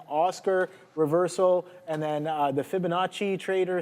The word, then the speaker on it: Fibonacci: the chat saying Oscar reversal, and then the Fibonacci trader saying shorting HIMS. Great short on HIMS. I just pulled up that chart Fibonacci and Finabachi.